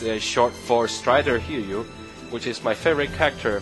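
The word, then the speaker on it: Strider Hiryu: his most public known from Marvel versus Captain Strider here you shorts Strider I showed it out to try and that's it let's try here you is how you pronounce it let's try here how did you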